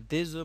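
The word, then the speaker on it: des œufs: পানিচুপ বুইয়ে দে হ্যাঁ দেজু মানে হলো কিছু ডিম এখানে লক্ষ্য করুন এফ আছে কিন্তু এফ এর উচ্চারণ হয় না বলতে হয় দেজু কিন্তু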